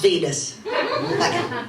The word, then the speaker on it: Wiene: Caligari, what was directed by a man called Robert Wieners. It's pronounced Venus.